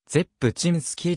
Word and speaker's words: Rzepczynski: は非常に珍しい最初の r は発音せず zepp チームスキーと発音するメジャーデビュー時の